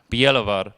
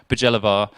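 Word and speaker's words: Bjelovar: even pronounce like rieka biehlovar ossiak yeah i think of a j in english it said jer so osajek bajalavar and rejecter as well as other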